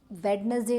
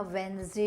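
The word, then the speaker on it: Wednesday: name बताए थे अ कि वेडनेसडे नहीं होता वेनसडे होता है राइट थर्सडे नहीं उसमें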